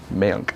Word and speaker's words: Mayank: Mayank.